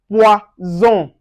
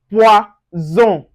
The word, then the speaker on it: poison: Now, for instance, if you see S in between two vowels, like for instance, that's S in between two vowels, you pronounce that Z. Now, an example, we have poison, poison.